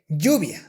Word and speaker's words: lluvia: The correct way to pronounce these sounds is lluvia, ella, parrillada, haya.